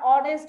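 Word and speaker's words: honest: এখানে শব্দটা হনেস্ট ছিল, এখানে আমরা অনেস্ট বলছি, ভাওয়েলের মতো উচ্চারণ করছি তাই এখানে আমরা অ্যান দিব।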